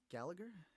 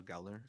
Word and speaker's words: Gallner: yet so shout out Gallagher gallner I always get his name wrong too which is Kyle Galler terrible I always think there's like an extra G there something but uh shout out